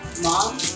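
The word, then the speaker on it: MAM: I think it's called Mom bottle. Yes, but it is spelled M-A-M, not a typical M-O-M spelling.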